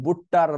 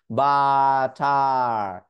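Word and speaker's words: butter: আপনি কি একবারও বলেন বুট্টার, বাট্টার, বাট্টের, এভাবে বলেন? একটু খেয়াল করে দেখুন, এভাবে বলেন না।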